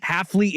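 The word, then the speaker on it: Hafley: for the updates am I saying it rightley Halley is correct okay Jeff Halley was the head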